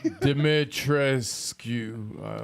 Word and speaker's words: Dimitrescu: Dimitrescu. It's not skew, but yes. it's that.